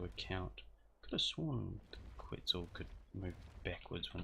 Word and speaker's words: quetzal: And I am well aware that quets is actually not pronounced quets, it's actually Quetzal.